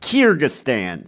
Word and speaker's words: Kyrgyzstan: kyrgyzstan kyrgyzstan i looked it up how it's pronounced kyrgyzstan so they did kind of cap the puzzle